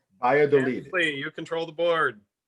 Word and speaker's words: Valladolid: What is Validad?